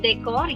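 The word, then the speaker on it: décor: It's decor. Yes, it's the soft pronunciation. Soft sound of D.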